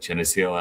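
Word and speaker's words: Geneseo: Uh, and I am probably going to butcher this pronunciation. Uh, but Jio, Illinois, is that correct? Yeah, you nailed it. That's exactly it. Jennio, Illinois is where I grew up.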